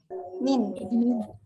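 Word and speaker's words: من: Ini cara bacanya gimana? Min. Huruf jar yang pertama adalah min.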